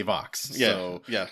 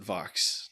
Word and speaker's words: Võx: the episode they say Vox so that's what we're going with the Borg Queen pronounced it Vox so OG Borg Queen